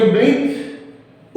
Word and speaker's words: blithe: ये ब्लीथ उच्चारण होता, ब्लीथ।